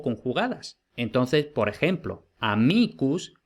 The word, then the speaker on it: amicus: Entonces, por ejemplo, amicus tiene el acento en la I en el nominativo, pero luego, por ejemplo, en amicorum no tiene el acento en la I.